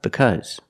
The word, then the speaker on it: because: a sound ow and in because it makes it sound uh because and if you know